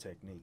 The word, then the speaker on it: Techniq: __ ] with this c-h-n-i-q it's pronounced technique they ain't got to